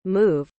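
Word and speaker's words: MEOVV: have been revealed however some fans believe it will be pronounced move of course it also resembles the term meow implying a cat-like quality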